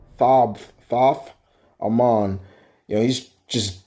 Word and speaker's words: Thoth: So this wizard, Thog, is Thoth, like it's spelled like a moth, Thoth, Amon.